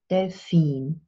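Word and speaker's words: Delfin: now this is tricky in English we have the dolphin of with stress on the first syllable and in German we have the stress on the second syllable they've seen now it's an easy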